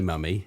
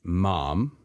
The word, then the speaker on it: mummy: So, first things first, the word mummy, Americans with that pronunciation think of a scary mummified Egyptian because their pronunciation is mom or mommy, and mummy is a different sound to them.